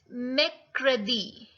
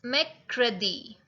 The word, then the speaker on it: mercredi: Wednesday, mercredi. It's mercredi.